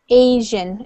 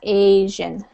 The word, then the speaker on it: Asian: Asian. It has a long A sound. Asian.